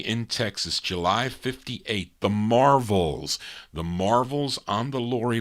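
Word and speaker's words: Marvells: on the win label as the Marvels v-e-l-l-s this one he's kind of pronounced it like the Marvels it's the Marvels and then they also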